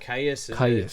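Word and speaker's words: Kyuss: How do you pronounce it? Caius. K-Y-U-S-S. Caius, yeah.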